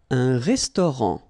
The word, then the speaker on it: restaurant: Un restaurant. Final T not pronounced.